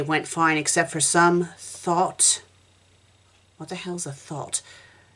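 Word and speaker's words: thot: guess it is an actual word so it's thought and it's a woman who has many casual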